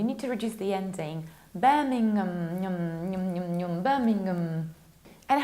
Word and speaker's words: Birmingham: It's West Midlands, not Midlands, but Midlands, with a capital of Birmingham, not Birmingham, not Birmingham, but Birmingham. You need to reduce the ending. Birmingham, Birmingham.